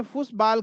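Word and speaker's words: Fußball: तो उसमें जो है ये जो बीटा की तरह बड़े बी की तरह जो दिख रहा है ना ये डबल एस का काम करता है। किसका काम करता है? यह डबल एस का काम करता है। एग्जांपल यह देखिए। तो फुटबॉल को जर्मन में फुसबॉल कहते हैं।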